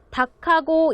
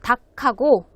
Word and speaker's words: 닭하고: 지금 여기에서는 지금 모음이 아니죠. 하가 나오기 때문에 두 개 중에 한 개만 읽어야 되는데요. 이때는 기역을 읽게 되어 있습니다. 그래서 닭하고 인삼, 대추, 마늘, 찹쌀이 들어가요.